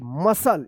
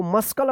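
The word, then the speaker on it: muscle: एम यू एस सी एल ई मसल। इसको मस्कल मत पढ़िए।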